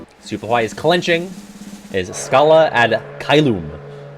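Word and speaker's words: Scala ad Caelum: That's how Yen Sid says it. He really puts the loom in it. I guess you're supposed to say it like that, but I always go Scala ad Kailum. But they really go heavy on the loom when they say it, Xehanort and Yen Sid.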